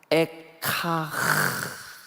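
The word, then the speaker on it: אֵיכָה: 근데 이게 히브리 말로 에카흐 이렇게 발음을 해요.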